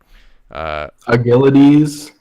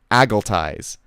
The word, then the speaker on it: Agilities: Agilities, great. Very good. Agilities? He's very good at... Wait, how do you say his name? Agilities? It's agilities, but last announcement they called him Agiltize.